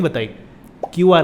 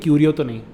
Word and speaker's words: Qriyo: told me the spelling, QRIYO I told, that can be said as Qriyo and not Curio And maybe, I am